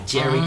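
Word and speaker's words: Jheri: they have it was called a Jerry curl that's spelled j h e r i Jerry curl and what it was is they put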